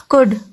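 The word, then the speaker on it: could: कुड. कुड में L silent है, लिखेंगे हम लेकिन प्रोनाउंस नहीं करेंगे.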